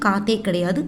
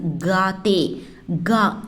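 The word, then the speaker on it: गाते: Pronunciation காத்தே கிடையாது, காத்தே, கா ஜிஏ அப்படிங்கிற ப்ரொனவுன்சியேஷன்.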